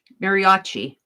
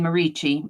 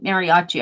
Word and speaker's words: mariachi: so a mariachi band I'm a-saying marici mariachi I think is the correct pronunciation so he likes to